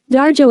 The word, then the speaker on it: Dario: considered a Marxist political farce it is a comedy about consumer backlash against high prices about the playwright Dario Luigi angelofo Italian pronunciation darjo f24 March 1926 to